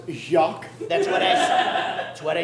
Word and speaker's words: Jacques: Actually, sir, it's pronounced Jacques. That's what I said, Jack.